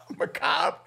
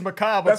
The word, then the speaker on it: macabre: let's get into it actually no it's uh macabre it's macabre according to google that's that's the way they uh pronounce it it said macabre there it is okay